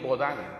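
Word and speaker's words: Baudin: instituciones jurídicas peruanas, o Luis Bodán, se escribe Baudín, Luis Baudín, en el Imperio Socialista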